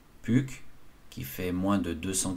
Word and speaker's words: Puck: de gauche à droite est prononcée à la française puck qui fait moins de